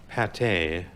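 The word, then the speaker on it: pâté: it falls out I'm pronounced differently like Pate which often has a circumflex over the A and accent a goo alongside the E it is a mass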